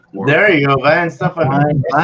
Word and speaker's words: Weihenstephaner: But it's somebody pronounce that for me. There you go, Weihenstephaner. Weihenstephaner.